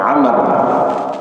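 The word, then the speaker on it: عمرو: Karena ketika menus amr itu harus ada wunnya di belakang ra. Jadi ain, mim, rau. Nah, itu dibacanya amar.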